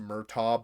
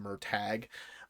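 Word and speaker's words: Murtagh: book is called, and it looks like it's pronounced Murtaugh, but it's pronounced Murtag, and it's about Aragon's brother.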